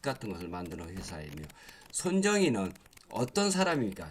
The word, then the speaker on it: 손정희: 이렇게 해서 뭐 AI 컴퓨팅 뭐 이런 칩 같은 것을 만드는 회사이며 손정희는 어떤 사람입니까? 자, 이 손정희 회장에 대해서 한번 또 알아보도록 하겠습니다. 손정희 회장은 한국어 발음입니다. 손정희, 일본어는 소노 마사요시라는 소프트뱅크 그룹의 창업자이자 회장 겸 CEO입니다.